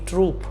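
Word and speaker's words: troop: important है समझना क्योंकि प्रोनंसिएशन सेम है होमोफोन है बट स्पेलिंग्स डिफरेंट है कैसे आइए इसको समझते हैं यह है टी आर ओ यू पी ई ट्रूप और यह है टी R double O पी ट्रूप तो ये जो ट्रूप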